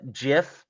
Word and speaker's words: GIF: It's what is it? It's like GIF. Where they're like, it's GIF. It's like, no, it's GIF. It's graphics interface form. Graphics. Right, but the guy who GIF. I don't care. The creator's wrong.